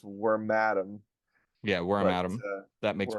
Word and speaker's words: Wormadam: bag worm and Madam which means that it's probably pronounced wor mam yeah wor atam that makes more sense well that makes more sense when we consider that all female burmes evolve into wormadam and all male burmes